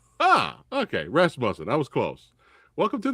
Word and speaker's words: Rasmussen: Tell me how to correctly pronounce the last name. Rasmussen. Ah, okay. Rasmussen.